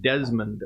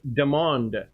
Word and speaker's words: Demond: I've been calling him Desmond Wiltshire. It's Demond Wiltshire, but I've only known